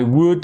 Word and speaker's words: would: I would like, ok? Et très, très, très, très important. Vous avez ici l'obligation d'enlever le L à l'oral. Vous l'écrivez, mais vous ne le prononcez pas.